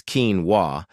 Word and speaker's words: quinoa: They see it in the store, they can't pronounce it, it's quinoa, and they just walk past it and grab their familiar box of oats.